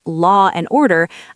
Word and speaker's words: law and order: For example, in British English, if I say law and order, I actually pronounce a little R sound in the middle.